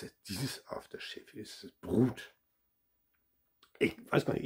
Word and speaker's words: Brut: Und zwar ist es dieses Aftershave, ist es Brut. Ich weiß gar nicht, ich glaube, das spricht man gar nicht Brut aus. Das T lässt man, glaube ich, weg. Bru heißt das denn oder so.